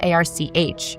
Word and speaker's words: arch: When you think of arc, it's spelled a r c h, so it's really arch.